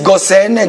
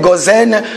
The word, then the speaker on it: Goshen: l'appelle, cette ville-là s'appelle Goshen. Il y en a qui disent Gosen, Gozen, vous savez le français, hein?